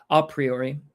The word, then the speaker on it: a priori: Basically, and we've kind of gone over this, but a priori is a priori is how it's pronounced usually.